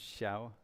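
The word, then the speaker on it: Xiao: that by the way in Mandarin X I ao is pronounced shiao you knew that did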